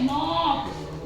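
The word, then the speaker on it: knock: इसके बाद है नो के एन ओ सी के नोक इसको हम बोलेंगे नोक ठीक है यहां पर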